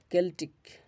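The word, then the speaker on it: Celtic: কিছু ক্ষেত্রে ক এর মত উচ্চারিত হয় যেমন কেলটিক কেলটিক কেলটিক জাতীয় জাতি বিষয়ক সেপটিক স্কেপটিক আচ্ছা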